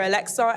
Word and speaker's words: Aleksa: I emphasize the KS because people hear Alexa and run with the Amazon Alexa. As much as the pronunciation is the same, the spelling isn't.